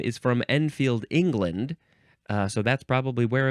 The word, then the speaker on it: Enfield: The next word is enfield rifle.